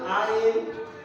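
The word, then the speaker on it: عين: আইন আইন এটার নাম আইন আইন এটার নাম আইন আইনের মত আরেকটা লেখবো আমরা আরেকটা আইন লিখলাম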